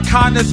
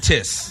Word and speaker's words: Countess: Remember Candace Vaughn from the Parkers? No, say her name again. Please say her name again. Countess. Thank you. What? Countess. You remember Countess. You remember Countess? Wakanda? Not Wakanda. Countess. It's Countess. Countess. It's the Countess.